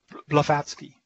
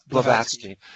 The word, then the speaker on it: Blavatsky: Blavatsky. Blavatsky.